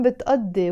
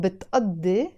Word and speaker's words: بتقضي: That's why you see I wrote here a number 2 which represents the أ sound, because this قاف is always pronounced as a أ when you're speaking Arabic, when you're speaking Lebanese Arabic.